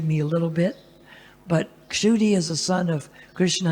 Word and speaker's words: Kshudi: But because it begins with that Sanskrit letter ksha, which is not even used very often in Hindi, and in English you can't spell it correctly. In English it comes out Kshudi. So sometimes they call me Kshudi, sometimes Shudi. In Sanskrit it's Kshudi, ksha, which is hard for American people to say because there's no ksha sound.